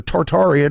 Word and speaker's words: Tartaria: wasn't a made-up thing tartery or tartaria depending on if you're pronouncing it Russian or Latin is it